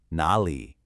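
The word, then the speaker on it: 哪里: When two third tones are together, the first one automatically changes into a second tone, a rising tone. So, even though it's written as a third tone, you'll always pronounce it like this. Not a le. Listen to that difference. The wrong way. Ni and the correct way. Nali. See how much smoother that sounds.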